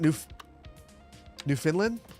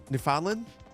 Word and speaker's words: Newfoundland: Is it New Finland? Newfoundland. I said it wrong.